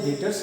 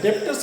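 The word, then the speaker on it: debtors: हैं वो हमारे लिए डेटर्स कहलाता है। डेटर्स, डेप्टर्स मत पढ़ना, बी साइलेंट रहता है, डेटर्स बोलते हैं।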